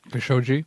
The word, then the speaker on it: Khashoggi: Khashoggi.